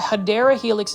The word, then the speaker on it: Hedera helix: Plant foliage, you can see this is the first Hedera helix, or the Hedera helix is the correct way to say it.